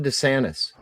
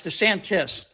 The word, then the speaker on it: DeSantis: And the second question I have, what is your problem with Ron Dantis? Uh it's the Santis.